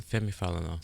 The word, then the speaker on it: Femi Falana: Yeah, San Femi Falana.